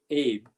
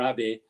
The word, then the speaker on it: Abe: So the head of that company, a guy, again, in pronunciation could be well dodgy, Kahei Abe, or Abe, just like Abenomics, the same name there, Kahei Abe.